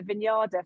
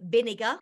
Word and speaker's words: Vinader: I laughed in your videos when you said, because I've called her Vinyada forever. Yeah, they told me just to keep remembering Vinegar.